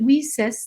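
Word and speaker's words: WiCyS: acronym lisa's w-i-c-y-s and we pronounce it we cis like we sisters because it's exactly what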